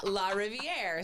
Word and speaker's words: Larriviere: So, it's French. So, how do you say river in French? Do you know? La River. Closer. Yeah. La Rivier.